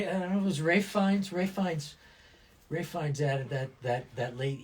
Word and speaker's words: Feins: It's Feins. Feins. Okay, so the extra E is you can hold on to that.